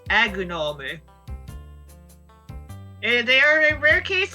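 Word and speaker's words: アグノム: As for Mesprit, it's Emorito, and as for Azelf, it's Agunome.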